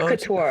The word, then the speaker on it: haute couture: So, I'll mispronounce this. What is it? Haute couture? What? How do you say it? Haute couture.